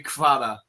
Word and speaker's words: Kvara: I had a Georgian student at summer camp, and he said they just say Kvara. So they just call him Kvara.